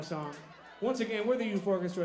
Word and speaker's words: Eufórquestra: It's pronounced Youth Orchestra.